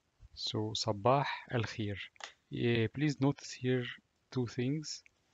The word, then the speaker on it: صباح الخير: Ye, ye, and here it's pronounced like e al khi, and the last letter is re, and pronounced like r. So sabah al khir.